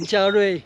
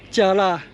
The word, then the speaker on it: 加蚋: 所以以前万华的加辣、五堵的有辣，被念成加瑞、有瑞。如果根据语言名从主人的原则，那么事实上应该是念成加辣、有辣，才符合当初平埔族语地名的音译。